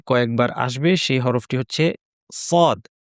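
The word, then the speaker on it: صاد: সদ হরফটি আমাদের বাংলা ভাষাভাষীদের জন্য অনেক সময় কঠিন হতে পারে। আমরা যদি সদকে সঠিকভাবে উচ্চারণ করতে চাই তাহলে আমাদেরকে এর উচ্চারণের স্থান এবং বৈশিষ্ট্য সম্পর্কে খেয়াল রাখতে হবে। এবং সদ শেখার জন্য আমরা আরেকটা হরফকে নিয়ে আসবো। সেটা হচ্ছে সিন। তার কারণ হচ্ছে দুটির উচ্চারণের স্থান একই। সিনকে একটু মডিফাই করে নিলেই আমরা সদ পেয়ে যাব।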